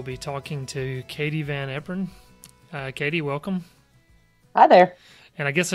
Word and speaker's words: Van Eperen: You did, Eperen. Which is impressive because it's very commonly mispronounced.